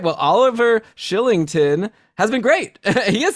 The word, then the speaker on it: Kylington: a fellow named oliver killington who's a defenseman on the team no it's shillington it's spelled kylington but it's pronounced shillington well that's i thought